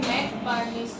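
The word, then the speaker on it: McBurney: কি হবে আসসালামু আলাইকুম NC furnish point ম্যাক বার্নিশ point উচ্চারণ হবে ম্যাক বার্নিশ পয়েন্ট এটা কি এট দা ফাংশন জাংশন اللہ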